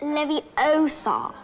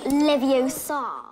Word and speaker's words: Leviosa: thing Guardian Leviosa yes it's not Le it's Le it's Lev Oar not Levar oh there's a kid